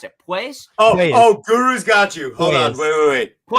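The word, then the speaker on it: Puelles: How do you pronounce it? Pues? Oh, Guru's got you. Hold on. Wait. Pues, there he is. Yeah. Pues.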